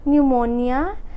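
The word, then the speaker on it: pneumonia: पे हम लोग का जो है वो पी साइलेंट होगा। जैसे साइकोलॉजी, न्यूमोनिया एंड टोमेन।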